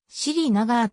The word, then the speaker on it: Srinagar: 現地方であるカシミール後では siri ながーと発音されるカシミール地方の地図約